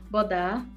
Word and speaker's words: Bodar: Pessoal, hoje nós estamos recebendo o Cristiano Bodar. Pronunciei certo o seu nome? Isso mesmo.